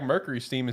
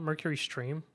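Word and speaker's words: MercurySteam: got their name wrong is it not Mercury stream yeah no it's steam is it Steam yeah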